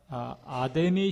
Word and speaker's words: 아데미: 불가사의 중에 하나라고 하는 아데미 신전이 있었다. 영어로는 아르테미스라고 발음하는데 우리 신약 성서에는 아데미라고 이렇게 되어 있어요.